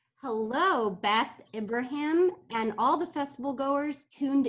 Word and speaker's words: Ibrahim: saying your name correctly he said it right ibrahim okay awesome okay so ibrahim is a